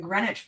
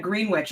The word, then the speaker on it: Greenwich: Katie's finishing Greenwich Park. I almost said Greenwich, and then I was like, that is not how we pronounce words at all.